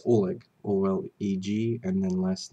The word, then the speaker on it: Oleg: and me love him it's okay could you pronounce your name for the record please it's Oleg o-l-e-g and then last name uh the